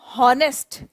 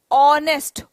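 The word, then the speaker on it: honest: हम H silent है द एच is silent here we डोंट pronounce this as नेस्ट we pronounce it एज ऑनेस्ट ओ on switch on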